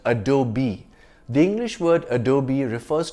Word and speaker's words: Adobe: It's not Adobe, but Adobe.